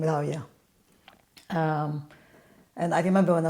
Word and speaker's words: Rawia: Because W in Dutch is V. So sometimes when they see my name Rawia, they think Rawia. it's a V, but it's not. It's more like the English pronunciation of the W.